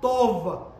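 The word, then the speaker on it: טוב: aquí cuando dice hermoso es la palabra hebrea tov t o v es la palabra común to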